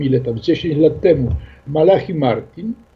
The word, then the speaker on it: Malachi Martin: tam, 10 lat temu, Malachi Martin, ja go wymawiam po polsku, bo tak się wymawia w Europie, w książce The Windswept House, czyli Dom smagany wiatrem.